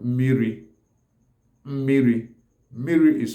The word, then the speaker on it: miri: land, like Anambra people, will pronounce miri as mili. Then mili is spelled as me-me-iri, me-me-ili. Then some other parts of Abia State, like Ohofia, Breba, Arochukwu, some will call it mini. Mini. Mini is spelled as me, e, ni, mini. Then, then mini, miri, miri, which is the the generally accepted Igbo word for water, miri, and mili, and mini are all talking about what? Water.